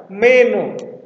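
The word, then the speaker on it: μένω: sor Saya sedang tinggal meno ini dibaca me-nya tinggi meno Kalau yang ini meno saya akan tinggal karena aksennya di belakang jadi dibaca o-nya yang naik meno gitu ya Nah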